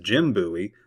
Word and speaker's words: Jim Bowie: and it is pronounced the same way as Jim Bowie, the great Alamo defender for whom the city is named. Note that it is not pronounced like David Bowie.